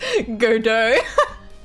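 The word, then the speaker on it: Godot: It's pronounced Godo.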